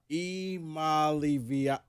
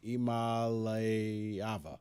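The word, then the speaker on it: Iamaleava: yeah, but phonetically, Imalivia. No, come on, Imalayava.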